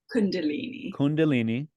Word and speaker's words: Kundalini: And of course, a great way to end the book is it pronounced Kundalini? Kundalini.